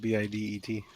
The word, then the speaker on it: bidet: what i said the day yeah the day is spelled b-i-d-e-t it's a bidet i'm telling you man like